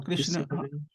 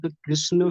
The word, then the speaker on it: कृष्ण: चाहिए ऐही करना चाहिए सही उच्चारण कौन कृष्ण है या कृष्णा कृष् कृष्ण कृष्ण है सही उच्चारण तो है ना मिते